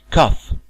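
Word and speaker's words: cough: لاحظوا معايا النطق بتاع الكلمة دي كاف، الجي اتش نطقناها بالظبط زي حرف الاف.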